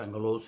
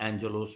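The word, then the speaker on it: ἄγγελος: कुछ लोग एंगलोस बोलते हैं, रियल वर्ड तो एंगलोस है, पर एंजलोस भी कुछ लोग बोलते हैं।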